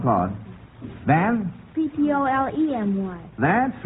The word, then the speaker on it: Ptolemy: It can also be spelled without the E, so you're still correct. And the next one is Ptolemy. Claude? Ptolomy. No, that's wrong, Claude. Van? Ptolemy.